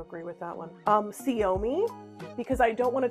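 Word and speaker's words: Ciomy: I have to agree with that one um siomi because I don't want to tell everyone how it's pronounced and they did pronounce it for me siomi it's really cute c i o m y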